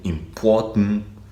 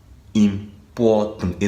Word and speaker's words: important: Voilà, ce mot se prononce important. Important et non importante ou bien importante.